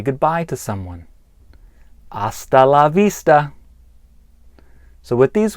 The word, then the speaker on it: hasta: Aasta la vista. Aasta la vista. Now, I'm sure you noticed, as we've said in earlier lessons, that you don't pronounce the h in aa.